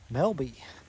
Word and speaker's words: Melba: counter the cashier and they they said people around here call it Melby and this is a I asked like who melbow was and she's like oh you mean Melby that's that's this place so this little Community here is called Melby and it's spelled Melba but everybody calls it Melby here so if you